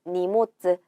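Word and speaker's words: 荷物: 자, 니모츠라고 하는 거고 짐이나 화물을 뜻하는 단어예요. 자, 짐이라고 할 때 요 한자 니모츠라고 읽었어요. 여러분 이때는 모노, 훈독으로 읽지 않고 뭘로 읽었어요? 음독으로 읽어서 모츠라고 했네요. 그렇기 때문에 훈독과 음독이 섞여져 있는 니모츠, 짐을 뜻하는 단어가 되겠습니다.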